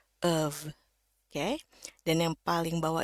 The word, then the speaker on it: of: Ya, hati-hati di sini bukan F ya, tapi pakai V, dan V-nya itu harus bunyi dari pita suara. V, of.